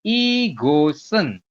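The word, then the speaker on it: 이것은: Nah, tulisnya kan igot sama dengan en. Kita bacanya igosen. Jadi shiotnya nanti naik ke sini.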